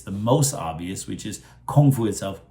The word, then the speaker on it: kung fu: very good point that it should be pronounced like with a G sound not with a k sound uh the the K